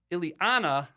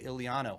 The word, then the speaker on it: Ileana: ladies and gentlemen ilano Ilana I just said your name wrong I can't believe I just said your name all these years we're working uh together on S talks fighting with each other and I was calling you ilano I had no idea